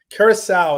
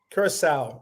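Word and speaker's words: Curaçao: Kurissau is how it's pronounced. Kurissau is how it's pronounced.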